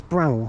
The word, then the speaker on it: Bramhall: No, it's Bramhall. I think you say Bramhall. I think that's how you say it. You don't put emphasis on the H.